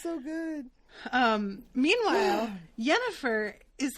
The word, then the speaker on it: Yennefer: It's so funny saying Yennefer, because my mom's name is Jennifer, and my uncles from Colombia always called her Yennefer, because in Spanish, a J is pronounced like a Y.